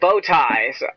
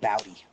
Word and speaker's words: Bowtie: Bowtie. That is, you are the first person to ever pronounce that right. I always get Bowdy.